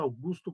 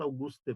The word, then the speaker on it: Auguste: Algumas grafam como Augusto Comte, mas a pronúncia pode ser tanto Augusto quanto Auguste, porque ele era um francês.